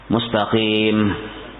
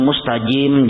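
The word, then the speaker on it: الْمُسْتَقِيمَ: Nah, contoh pulang yang membatalkan Fatihah misalnya mustaqim jadinya misalnya bujur gitu dibacanya mustajim jadinya.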